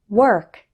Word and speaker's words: work: The letter O in these words isn't pronounced like O. Instead, WOR sounds like were. Let's practice. Word, work, worse, world.